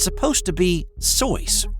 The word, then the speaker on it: Seuss: Seuss, used his mother's maiden name as his pen name, but it's truly not pronounced Seuss. Instead, it's supposed to be Soyce, rhymes with voice.